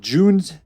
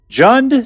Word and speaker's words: Jund: in particular uh called June's sorry it's pronounced June jund sacks as in John's sacrifice why is it